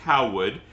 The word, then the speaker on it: Heilwood: And I know it doesn't look like it's written on the caption, but that's how it's pronounced. And it's pronounced Heilwood because it's a corruption of John Heisley Weaver's name.